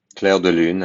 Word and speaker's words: Clair de lune: these pieces, so credit to Edward Servan-Schreiber for pronouncing these pieces correctly for us. Masque et bergamasque by Fauré. And then the Debussy. Clair de lune and rêverie by Debussy.